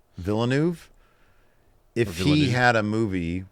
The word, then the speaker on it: Villeneuve: Dennis I never know how to pronounce his last name. Villeneuve. Villeneuve.